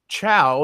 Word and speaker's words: Chao: And then I realized, I'm like, no, you're saying Chow, as I've been made to understand it, but cow. That's Well, because it's spelled similar to chaos without the S, right?